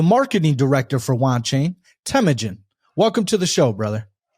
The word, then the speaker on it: Temujin: today's guest the marketing director for want chain temujin welcome to the show brother thanks a lot